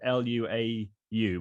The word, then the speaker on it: luau: party but i'm not exactly sure how you pronounce the word l-u-a-u but i'm sure joanne can tell us over